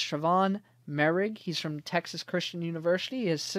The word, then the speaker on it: Moehrig: Every time I look at his name, I want to say Moehrig, but it's Trevon Moehrig.